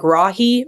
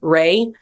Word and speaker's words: Rahe: It's Rahe, like Rahi, rather than Ray.